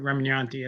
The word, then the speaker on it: Remignanti: new book by Drew Remignanti. I don't know if I pronounced your name Yeah, correctly. yeah, the guy in the videos had it wrong, but Remignanti. It's kind of like lasagna and Chianti.